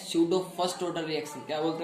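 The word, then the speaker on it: pseudo: यहाँ पे P silent हमारा, तो इसको बोलते हैं हमने स्यूडो फर्स्ट ऑर्डर रिएक्शन। आया समझ में। यहाँ पे जो सूडो दे रखा है, सूडो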